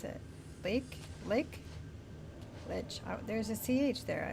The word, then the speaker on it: lich: How did they pronounce it? Lake? Lich. Oh, there's a CH there. It makes me want to say leech.